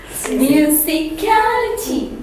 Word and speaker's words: musicality: but let's take musicality it's got four syllables what do the stress fall musicality music caler music caler yes it's on the third syllable Now read after me musicality so similarly it's not